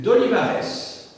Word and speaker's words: Olivares: ministre qui est le comte duc d'olivarè donc il avait ces deux titres nobiliair lete duc d'olivar comme ça se prononce donc volonté de centralisation